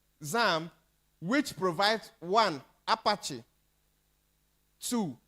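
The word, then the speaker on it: XAMPP: we will use what zamp that's the right pronunciation zamp which provides one Apache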